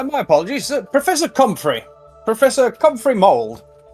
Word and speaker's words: Comfrey: Professor Comfrey Mold. How do I spell it?